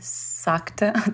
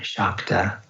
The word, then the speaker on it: Shakta: So when the S has a little accent over it in Sanskrit, it's pronounced as an SH. So it's actually Nandu Shaiva Shakta Tantra.